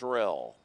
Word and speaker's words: Roell: Roell, Mitchell telling us before the game the O is silent. It's pronounced Rel.